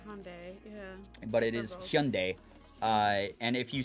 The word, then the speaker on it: Hyundai: It's technically pronounced Hyundai because it's a Korean word. So when you actually write it in America, we turned it into Hyundai, which is wrong.